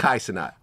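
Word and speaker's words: Kai Cenat: Kaisenat.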